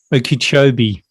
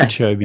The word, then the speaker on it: Okeechobee: Try and pronounce that. Okeechobee. Yeah, Okeechobee.